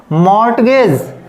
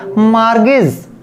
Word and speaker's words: mortgage: MORTGAGE, तो ये आपका वैसे मोस्टली कैसे पढ़ेंगे, मॉर्टगेज, लेकिन वो तो रॉन्ग हो गया, तो हमको राइट प्रोनाउंसिएशन करना है, तो ये हमारा रहेगा मार्गेज, मार्गेज।